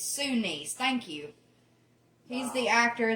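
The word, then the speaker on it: Sinise: of it I just Sue niece okay I'll never okay see I'm trying to say Cindy's it's sunnis thank you he's the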